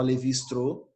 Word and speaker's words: Lévi-Strauss: Se escreve aí Levi Strauss, mas o nome dele se fala Levi Strauss, né?